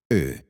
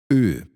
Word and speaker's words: Ö: In English, you could compare it to O, O, or O, but you're trying to say A with your lips rounded. Ö. Ö.